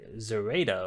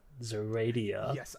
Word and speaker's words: Zoraida: There's one before the D, but there's no I after the D, which would end with the Dia. So it would be Zoraida or Zoraida, not Zoradia or Zoraida.